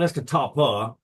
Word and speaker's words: Escatawpa: So from a real small town called Escatawpa. It's called Escatawpa, but we pronounce it with a B because it's Mississippi.